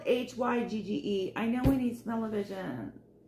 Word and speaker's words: hygge: okay hygge it's spelled h-y-g-g-e i know we need smell-o-vision hygge hygge but it's it's huga that's how you say it i just sing that